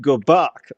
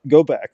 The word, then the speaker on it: Gobak: Oh, so it's pronounced Gobak. Okay, Yeah. okay. I'll try to remember that. I've been thinking it was Go back all this time.